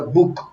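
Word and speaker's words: Bóg: dice se dice Bueno se escribe bog b o tildado g pero se pronuncia Book Book dice Será que al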